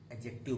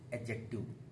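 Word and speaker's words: adjective: जब भी ए और जे के बीच में डी आएगा तो वो साइलेंट होता है। तो हम लोग इसको डी को हटा देते हैं। एड एडजेक्ट एडजेक्टिव बोलते हैं। एडजेक्टिव।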